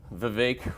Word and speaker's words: Vivek: So I realized, okay, it's pronounced Vivek, it's not Vivek.